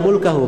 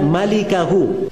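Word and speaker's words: مالكه: Itu bukan bacanya illa mulkahu, memang mim lam kaf ha, tapi bukan mulkahu bacanya illa malikahu cara bacanya.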